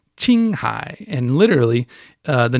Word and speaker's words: Qinghai: you read it you it's spelled q i n g h a i but it's pronounced in Chinese Ching high and literally uh the